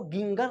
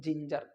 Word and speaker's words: ginger: ई आ रहा है, इस वजह से इसको गिंगर नहीं बोल करके क्या बोल रहे हैं? जिंजर।